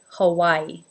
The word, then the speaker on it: Hawaii: I'm sure that in Hawaii, the Hawaiians pronounce it with a more authentic accent. But in general, in America, we call this state Hawaii. Hawaii.